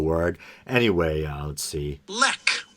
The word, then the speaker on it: Lech: name wrong the producer's last name is lek l-e-c-h and uh weinstein is pronouncing it lech and i think they're